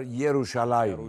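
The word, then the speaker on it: ירושלים: Yahudiler y harfiyle söylerler mesela Kudüs'e Batı jerusalem der Yahudiler yeruşalim der Ne der yeruşalim yerusalim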